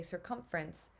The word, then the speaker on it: circumference: um when we say circumference we do the way we pronounce it we kind of clip a vowel sound so this is a